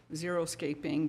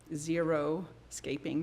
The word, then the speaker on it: xeriscaping: Oh, okay, so the bullet point 5 said contracting, landscaping, and services to include the word xeriscaping, but it's spelled XERISCAPING, not zero-scaping, though I really like that.